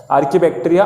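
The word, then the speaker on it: archaebacteria: Okay, actually त्याचं pronunciation वेगळं आहे पण तुम्ही स्पेलिंग लक्षात राहण्यासाठी असं बोलू शकता. आर्की बॅक्टेरिया, आर्ची बॅक्टेरिया.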